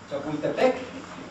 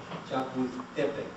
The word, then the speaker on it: Chapultepec: You've been to the park called Chapultepec? That's the Hispanicized pronunciation. The actual Nahuatl pronunciation, last syllable, second from last, right? Chapultepec. Chapultepec.